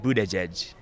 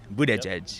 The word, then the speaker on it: Buttigieg: Pete's last name well I see see the boot Edge Edge sign so I'm going to go Pete Buddha judge Buddha judge Buddha judge Buddha judge and you Buddha judge same same all right